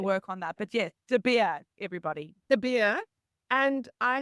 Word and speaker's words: De Beer: I've pretty much had everything, and I try and explain it as beer. You do the whole, you're chugging down a beer. I'm de Beer.